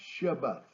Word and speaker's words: Shabbat: to begin with Sabbath the Hebrew word is pronounced Shabbat that's way my Bible